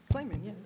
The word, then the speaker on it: Clayman: Professor Clayman Is the pronunciation correct of your name, Clayman? Clayman, yes.